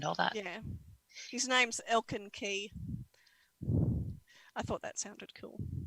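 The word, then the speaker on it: Elkin Kij: Key is spelled K-I-J. K-I-J, Elkin Key. Oh God, that actually sounds really cool.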